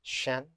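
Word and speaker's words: 神: the ancient Chinese word for that was it's pronounced Shen Shen means a spirit being the Shen is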